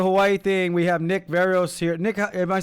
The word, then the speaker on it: Verreos: people you don't pronounce they look at the words and somehow they end up with varreros i mean yeah they